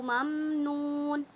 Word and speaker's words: ممنون: اجرن غیر ممنون. اچھا میم میں قلقلہ نہ ہو، خیال رکھیے گا. مم نہیں، ممنون، ممنون.